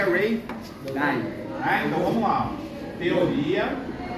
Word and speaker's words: Ray Dalio: Mas por causa da pronúncia que nós temos na língua inglesa, né? O A se torna EI, certo? Por isso que é Ray Dalio.